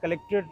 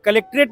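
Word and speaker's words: Collectorate: जाएगा और हमेशा याद रखिएगा कि यहां पे कभी भी कलेक्टरेट नहीं बोला गया कलेक्ट्री कलेक्ट कलेक्टोरेट और यहां स्पेलिंग मुझे लगता है कभी भी हमने सही स्पेलिंग नहीं देखा जो पटना में जो सही स्पेलिंग है वो होना चाहिए सी O double L ई सी टी ओ आर ए टी कलेक्टरेट च मींस द प्लेस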